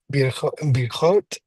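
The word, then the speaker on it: ברכות: And take note of the dagesh in the next to last letter of the first word. Okay. Bir, birchot, birchat.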